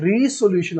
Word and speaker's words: resolution: रेजोल्यूशन of force student, इसको pronounce करने के दो तरह से इसको हम प्रोनाउंस कर सकते हैं। एक है रेजोल्यूशन ऑफ फोर्स और दूसरा है रीसोल्यूशन of force, depend upon you.